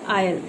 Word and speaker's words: aisle: Word दिया हुआ है, इसका प्रोनाउंसिएशन होगा आपको आयल. ठीक है. एस जो है यहाँ पर आपको साइलेंट हो जाता है.